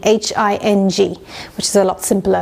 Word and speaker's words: hing: So it's spelled A-S-A-F-E-T-D-I-A. T-I-D-A, sorry, asafoetida, and it, in the Indian language it's called hing, H-I-N-G, which is a lot simpler and easier to remember.